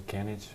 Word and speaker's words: Kenic: People would call me, which is not correct. it's also Kenic.